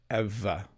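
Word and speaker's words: Ewa: Eva by the way if your name is spelled like that and you're from Poland the W is a v Eva so if you're wondering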